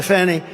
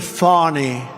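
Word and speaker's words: Fani: like to apologize to Fanny it's F A ni I she pronounces it fonny f i don't see it to me it's Fanny the very first bill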